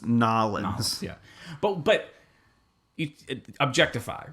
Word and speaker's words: New Orleans: Because I know, like 2004, when I was in New Orleans, I went to one in New Orleans, but that's before. You're pronouncing it wrong. It's Nolans.